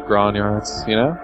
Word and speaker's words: grognard: trying to sell to grognards, Yeah. That's because it's grog nerds making the game, and they have these weird, bizarre ideas about how product pricing should work. Arthur, it's pronounced grognard.